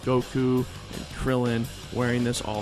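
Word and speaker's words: 悟: It's the kanji given to all who train under Master Roshi, so you see like Goku and Krillin wearing this all the time. Goku's kanji is actually pronounced go.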